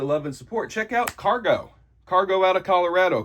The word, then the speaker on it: Kargo: and support check out cargo cargo out of Colorado cargo with a k and a long o Colorado with a c